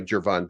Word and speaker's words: Gervon: me it's J uh which is why it's pronounced that's why that's why jvon starts with a J du next play vus